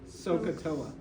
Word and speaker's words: SOHCAHTOA: so so uh now put it all together sohcahtoa it sounds crazy at first but it's going